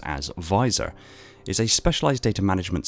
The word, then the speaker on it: VISOR: Visual Intelligence System Reconnaissance, abbreviated to and pronounced as VISOR, is a specialised data management system for MJOLNIR.